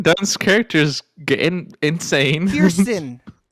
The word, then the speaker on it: Kirsten Dunst: No, it's just Kristen Dunst's character's getting insane. Kirsten.